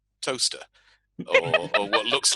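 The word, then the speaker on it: Towcester: americans have no idea that what's written um toe sester is pronounced toaster or what looks like it's what looks like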